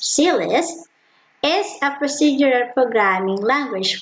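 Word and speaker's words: CLIST: class or command list pronounced c list is a procedural programming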